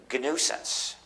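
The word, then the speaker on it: gNewSense: And GNUsense, which is spelled GNUsense, which is also a joke because my title as the head of the GNU project is the Chief GNUsense, spelled G followed by nuisance.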